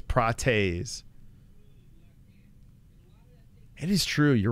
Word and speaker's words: Prates: I feel like it's Prates.